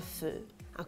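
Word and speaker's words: phở: il me faire un feu quoi un feu ça se prononce comme le mot feu dans pot-au-feu et pour cause ce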